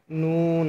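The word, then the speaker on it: نون: হ্যাঁ, ৯ নম্বর মাখরাজ জিহ্বার আগা তার বরাবর উপরের তালুর সঙ্গে লাগিয়ে নুন হরফটি উচ্চারণ করবেন। জিহ্বার আগা তার ওপরের তালুর সঙ্গে লাগিয়ে নুন হরফটি উচ্চারণ করবেন।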